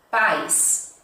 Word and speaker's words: paz: Terceira, paz, paz, ênfase na primeira sílaba, então, paz, certo?